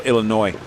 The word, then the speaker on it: Illinois: The S is silent. Oh, Illinois.